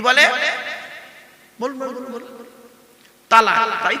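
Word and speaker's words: طلاق: শব্দটা তালাক বলবেন না, শব্দটা তালাক নয়। এইটাই তো ভুল হয় বাবা। এই জন্য আমি বলেছি বাবা, আলেমের ওয়াজ শুনবেন। চলো, শব্দটা তালাক নয়, শব্দটা হলো তলাক। কি বললাম? তলাক।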